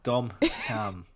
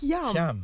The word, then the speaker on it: Hyam: Hyam. Yeah, I'd say Hyam. As in ham. Yeah, like West Hyam.